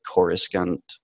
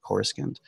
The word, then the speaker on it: Coruscant: you finally see what Coruscant is that how you say it core skins looks like the the the second C is silent the the second C so score sent I think so okay